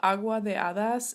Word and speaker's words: Agua de Hadas: So it's called Agua de Hadas, and I guess I'll spell it.